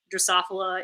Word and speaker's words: Drosophila: Drosophila is the name of the fruit flies that I study, so that's why my name sounds weird, and that's how you say it.